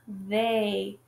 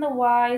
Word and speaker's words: they: And then we have the word they. And then the E and the Y sound like A.